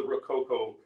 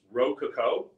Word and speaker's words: rococo: as i understand it ro coco is a very american way of saying rococo but uh i i